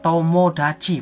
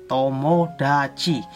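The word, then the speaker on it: 友達: Basu artinya pusprop atau bis nah berikutnya yaitu dibacanya tomodachi blog hinge tomodachi nantinya teman berikutnya nah berikutnya yaitu dibacanya ini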